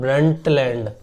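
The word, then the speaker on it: Brundtland: नाम था 187 में ब्रंट लैंड ब्रंट D silent है ब्रंट लैंड कमीशन जिसने रिपोर्ट दी ब्रंडटलैंड रिपोर्ट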